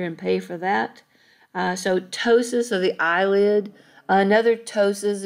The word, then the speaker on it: ptosis: word ptosis it's you the p is silent so it's ptosis p-t-o-s-i-s that's the word for